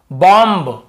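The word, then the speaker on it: bomb: नहीं जानते तो आप इसे क्या पढ़ते कॉम बम थंब डं ऐसे पढ़ते हैं ना ब का उच्चारण करते लेकिन देखिए एम के बाद यदि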